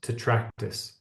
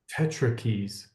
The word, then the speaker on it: tetractys: because that word there, I've always heard it pronounced tetractys, and you are calling it tetrakeys, which is fucking awesome, because that little T just needs another little and it'd be an E, right? So it is tetrakeys, but I've never heard it pronounced that way.